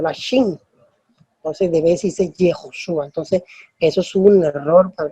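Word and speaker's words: יהושע: el nombre de Jesús en hebreo tiene una pronunciación en hebreo. Y no se utiliza la Same, sino la Shin. Entonces debe decirse Yehoshua.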